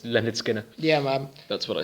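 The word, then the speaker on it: Lynyrd Skynyrd: but yeah the D the D is silent it's Leonard Skinner yeah ma'am that's what I said you said skinnard I said Leonard Skinner well maybe I'm going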